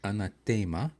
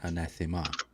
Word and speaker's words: anathema: in classical Latin is anathema. But in English it's always been anathema. So they classical Latin emphasizes the third syllable and commonly emphasize the second syllable.